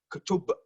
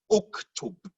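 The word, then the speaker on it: اُكْتُب: Then you bring in something called a helper alif, because I cannot pronounce kutub. Kutub is not pronounceable. So I will bring the hamza there to make it uktub. Uktub.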